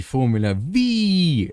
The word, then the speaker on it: Formula Vee: Welcome everyone to the new iRacing content, which is the Formula V. That is the exact pronunciation you need to do it whenever you say this car's name.